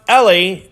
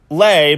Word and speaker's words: LE: billion searches well it it is pronounced le just lay by itself also competes basically with